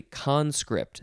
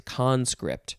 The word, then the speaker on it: conscript: second form of conscript oh it's it's actually conscript the emphasis for both of these is uh is conscript okay we'll try that